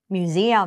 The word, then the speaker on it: museum: เสียง ดี ๆ นะ เรา ไม่ ใช่ มิ้ว อย่า งี้ นะ อ่ะ เอา ใหม่ นะ Museum musium เห็น ม musium นะ คะ นะ อ่า เรา จะ ออก เสียง แบบ นี้ แปล ว่า พิพิธภัณฑ์ นั่น